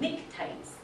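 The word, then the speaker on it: pnictides: have what are called nictites. Can't even pronounce this because it has this funny P there. But that's supposed to be silent, but nictites.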